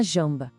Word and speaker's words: jambe: A palavra para perna é feminina, la jambe. O som do J é bem suave, como o nosso Jzinho em jarro, sabe? E tem um som nasal no meio, jambe. Então fica, la jambe.